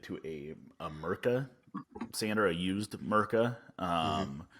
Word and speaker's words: Mirka: a a a used mirka um it's not pronounced murica but i started the